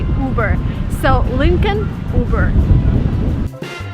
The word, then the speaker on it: Uber: you burn it again you do not follow American pronunciation rules here you just say uber so Lincoln uber